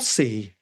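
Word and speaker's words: Costessey: c t eou s e y oh oh Cy was that how you say it yes so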